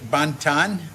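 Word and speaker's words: banten: could do that tomorrow now you pronounce it Bantan Bantan uhuh Banton Banton yeah okay uh and it's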